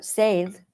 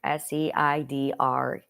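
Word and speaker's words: Seiðr: their word for magic, S-E-I-D-R. Seid. The R is silent. And, well, depending upon which region of Norway, 3 of the 4 of them say it's silent. Only one of them pronounces the R. And then the other 3 mocks them for pronouncing the R. So I don't pronounce the R because I went with the majority.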